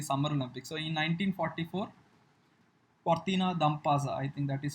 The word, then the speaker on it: Cortina d'Ampezzo: So in 1944, Cortina d'Ampezzo, I think that is how you need to pronounce.